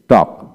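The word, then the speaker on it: talk: টি এ এল কে টক টক এখানে এল এর উচ্চারণ হবে না এল এর আগে এ আছে তাই এখন আসেন সি এ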